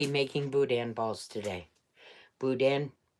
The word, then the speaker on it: boudin: making Budan balls today Budan but really you pronounce it Budan go figure okay so